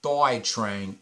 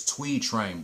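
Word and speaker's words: Thuy Trang: It's not Thoy Trang, it's Twee Trang, bro.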